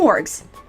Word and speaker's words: Morgs: now on i'm gonna call you morgs m-o-r-g-s hey with a hard g not a soft one so there's no confusion thank you i